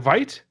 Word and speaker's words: Veit: Is it Veit?